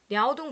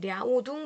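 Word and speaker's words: 辽东: 타이완 오늘날 대만이 그죠 야오동 반도 야오동 반도는 어 우리나라 북한 옆쪽에 있는 이렇게 툭 튀어나온 반도를 요동 반도라고 하거든요 요동반도를 중국식으로 발음했을 때 랴오둥 반도라고 합니다 그 랴오둥 반도를 획득하고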